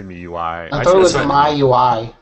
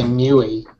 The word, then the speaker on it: MIUI: mean you know but some people say miui like those english words i mean i used to just say mewy but that's because i